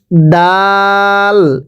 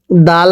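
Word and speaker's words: دال: এরপরে হরফের নাম দাল। এই দালটাও শক্ত করে উচ্চারণ করতে হবে, জাল।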